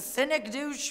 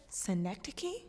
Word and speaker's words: synecdoche: My name is a cynic douche for rudeness. Poor me. A what? Cynic douche. What, you not get to high school yet? Synecdoche? It's pronounced synecdoche.